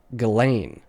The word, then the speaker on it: Ghislaine: a couple days, but the Ghislaine is pronounced like G-Lane. G like Gary. Ghislaine. So pronounce it Ghislaine to be correct.